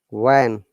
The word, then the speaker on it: when: If you ever find these words, which, where, when, will, whistle. In these words, if you see H after W, the H is silent.